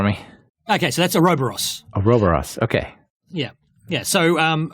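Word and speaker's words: Ouroboros: the next one I'm sure I'm going to mispronounce so can you hit it for me okay so that's aobos aobos okay yeah yeah so um aobos for those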